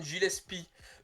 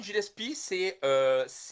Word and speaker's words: Gillespie: qui réussissent, le Colin Gillespie Alors, celui-là, je n'ai pas suivi... Colin Gillespie, ou Gillespie, je pense qu'on dit Ah, Gillespie, c'est ça, c'est ta prononciation est pas bonne.